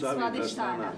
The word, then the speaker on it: Svadhisthana: Svadhisthana.